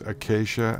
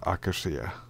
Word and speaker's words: acacia: for that one but i do know that it's acacia and not akasia holy crap did i